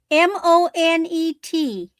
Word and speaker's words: Monet: And then my last item, John, how do we pronounce M O N E? Mother of pearl. Mother of pearl. M O N E T.